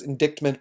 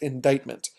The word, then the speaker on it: indictment: word in your outline I know it looks like it says indict mint but it's actually called pronounced indictment an indictment is basically